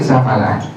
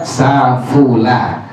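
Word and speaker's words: سَفَلَ: Jadi dengan fathah fa dibaca safala, boleh dibaca safula. Kalau yang afsah, yang paling fasih adalah dibacanya dengan fathah fa, safala. Atau boleh baca wa in safala, atau boleh baca wa in safula.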